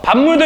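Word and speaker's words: 밥물: 반물도 역시 마찬가지입니다. 비읍이 뭐를 만나게 됐죠? 미음을 만나게 되었어요. 그래서 반물 이런 식으로 변해서 발음이 되는 현상.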